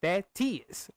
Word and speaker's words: Thaddeus: He's saying Thaddeus, cause that's how my fucking name is pronounced, you idiot.